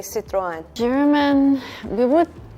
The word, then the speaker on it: Citroën: say Citroën. I know we are not famous. Oh, in Spain, it is quite famous. Really? Yeah, we have plenty. In Japan, we say Citroën. In Turkish, we say Citroën.